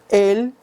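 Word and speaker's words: אל: En el libro de Números, capítulo 23, versículo 8, aparece Él y significa Dios. Recordemos que ese es cómo se pronuncia y se lee en hebreo la palabra Dios.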